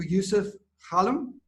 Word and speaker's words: Youssef Ghalem: leather goods here in morocco so welcome to yusuf khalim to the podcast thank you ryan for pronouncing my name the right way and thank